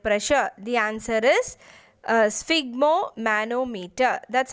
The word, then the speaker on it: sphygmomanometer: the measuring blood pressure the answer is uh sphygmomanometer that's how you pronounce this uh so it consists of inflatable